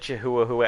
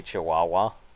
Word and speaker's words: Chihuahua: myself yep you're welcome yeah again I said jehuahua as a joke and I always think but I just say Chihuahua it's because somebody was like mispronouncing [ __